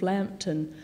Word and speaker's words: Lambton: I often think, what do they make of Lambton? You know, with its silent M, what does the Christian